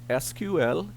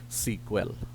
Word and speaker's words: SQL: Okay, it can be pronounced either as SQL, spelling out each of the letter, or as a single word which sounds like SQL.